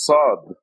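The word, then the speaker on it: ص: Now this is a heavy S. It is not like the regular S of Sam. This is a heavy S. There is no Sad, or Sa. And there's no English, of course, equivalent to this letter. The closest would be any word with a heavy S, like some.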